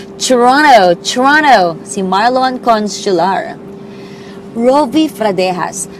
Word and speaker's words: Toronto: Ganun daw pong papronounce, eh, no? Hindi po Toronto. Toronto, si Marlon Consular.